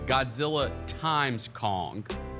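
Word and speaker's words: Godzilla x Kong: Godzilla times Kong. This isn't versus because they're friends now. It's Godzilla times Kong.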